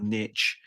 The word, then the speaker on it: niche: mean play to your Niche play to your or again as you you weirdo Americans say your Niche um I used it